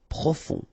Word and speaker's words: profond: Final D not pronounced. O-N, on. Profond.